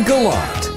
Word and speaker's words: Galat: name is Joan Marie galot galot rhymes with DOT which is Handy because she wrote The Dot to dot in the Sky series